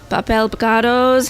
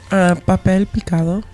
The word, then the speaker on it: papel picado: There's the papel picados hanging. Am I saying it right? Papel picado.